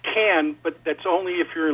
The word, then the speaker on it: Khan: you first off on the pronunciation of khan it's can but that's only if